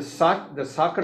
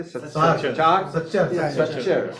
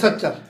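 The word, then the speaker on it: Sachar: The soccer report, is that soccer? How do you say? Satchar. I cannot pronounce it correctly. Justice Satchar.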